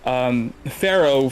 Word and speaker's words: Farrow: a self-indulgent thing, but Farrow phonetically is the same as like the Egyptian king, right? You know, Pharaoh.